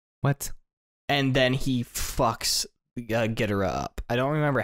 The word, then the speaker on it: Ghidorah: Oh, it's G-H-I-D-O-R-A-H.